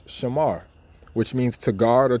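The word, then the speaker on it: שמר: We understand how the word is formed in the ancient Paleo Hebrew, which is 3 syllables, Shah, Ma, and Ra. And we put it together and we know it's Shamar, which means to guard or to observe.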